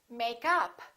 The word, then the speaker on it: makeup: As we learned, if it's a phrasal verb, we stress the second part. We stress the preposition. And if it's a noun, we stress the first part. For example, make up, or I'm wearing makeup.